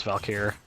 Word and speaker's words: Valkyr: people that cannot pronounce Valkyr it's like adding a little disheartening because it's like how to pronounce Val key and then just add a year to the end of it shut up Steph oh